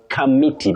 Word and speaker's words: committee: Commonly and I repeat, mispronounced as committee. But that O after C takes what we call a schwa, a weak vowel sound.